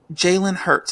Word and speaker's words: Jalen Hurts: Now, the Eagles quarterback, Jalen Hurts, am I pronouncing his name correctly?